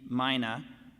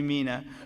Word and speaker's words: Mina: Gold Star Mothers, and Mina, rhymes with Tina, Mina, who's the president emeritus of the Gold Star Wives of America.